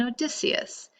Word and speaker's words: Odysseus: For example, in this chapter, you will come upon the words Odyssey and Odysseus. They are respelled as A-D-C and O-D-C-us. The capital letters indicate which syllable to accent.